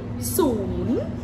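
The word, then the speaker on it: ศูนย์: Soon. Soon. Uh-huh. How do you spell that? S-O-O-N, like soon.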